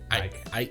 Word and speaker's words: Icke: Ike. Yeah. Ike. It's spelled Icke.